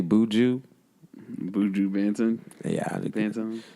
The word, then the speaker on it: Buju Banton: Buju Banton.